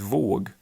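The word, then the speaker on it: våg: like um the word for wave which in French is vag and which in Swedish is vog and they say in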